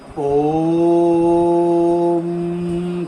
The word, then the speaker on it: ওম: ওম উচ্চারণ হয় তিনটে শব্দ দ্বারা, অ, উ আর ম।